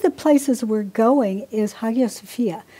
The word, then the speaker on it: Hagia Sophia: places we're going is hagia sophia which is and i'm probably mispronouncing the the lights like aya sophia right right um it